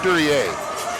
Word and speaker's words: Duriet: been mispronouncing 61's name it's matt duriet not durian very excuse us for